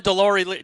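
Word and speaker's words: Deslauriers: Deloriers. Come on, man. Where's your French, buddy? Sorry. So Antoine Deloriers.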